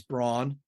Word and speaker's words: Braun: fire you remember he was a rookie it's pronounced brown brown but like it's Braun you know what I'm talking that's a great